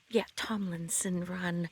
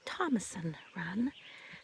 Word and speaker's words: Tomlinson Run: This is Thomason Run State Park, but it's actually pronounced, Tomlinson Run, but people locally call it Thomason Run.